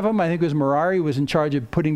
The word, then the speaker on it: Merari: But the three sons of Levi are Gershon, Kohath, and Merari. Rhymes with Ferrari.